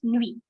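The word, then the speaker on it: nuit: we don't pronounce t we don't pronounce t in movie it's just nui okay it is like n-w-e-e something like that okay so because it's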